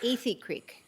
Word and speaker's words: Athey Creek: uh the church and it's Ethy Creek. A Creek. Okay, I've been mispronouncing it.